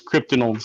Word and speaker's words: Cryptidnals: It's like cryptids and criminals put together. It's Cryptidnals.